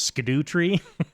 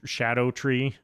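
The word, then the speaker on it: Scadutree: spelled scadu tree or what everybody's saying is scadut tree fragments. It's actually apparently pronounced shadow shadow tree.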